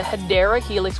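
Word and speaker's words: Hedera helix: favorite these are the hedra Helix what I like about the hedra helix or the hadera Helix which is the correct way to say for English ivy it is just a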